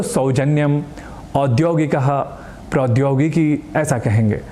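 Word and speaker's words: सौजन्यम्: अर्थात यहाँ भी औ को ओ या ओ न कहकर औ ऐसे ही कहना है, क्योंकि वेदों से लेकर लौकिक संस्कृत में ऐ और औ इन दो अक्षरों के उच्चारण की यही रीति रही है, जो निस्संदेह अधिक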